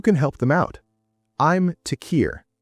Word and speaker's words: Tekir: I'm Tequir. It's spelled T E K I R.